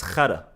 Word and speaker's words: khara: Since we're talking about Giardia, I've taught you guys this before, but shit in Arabic is khara.